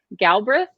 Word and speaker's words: Galbraith: So I think we pronounce it Galbraith, like the second A doesn't exist, so it's Galbraith.